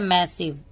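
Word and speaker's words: massive: ये हो गया हमारा मैसिव ई का हमारा कोई साउंड नहीं आएगा क्योंकि ई हमारा साइलेंट है डी को ड पढ़ते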